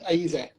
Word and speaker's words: Ayize: So we are here with Ayize. Am I pronouncing that 100% right? Yep, Ayize.